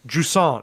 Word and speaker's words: Jusant: But it's called Jusant is the French pronunciation.